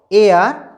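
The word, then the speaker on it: heir: मैं एक बार फिर रिपीट कर रहा हूं 4 वर्डों को, एयर, आवर, ऑनेस्ट, ऑनर। इन 4 वर्डों से पहले केवल और केवल आप क्या भरेंगे? एन भरेंगे, क्योंकि यहां पर एच साइलेंट है।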